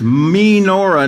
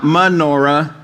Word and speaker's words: menorah: It's menorah, not menorah, and we're going to see why here.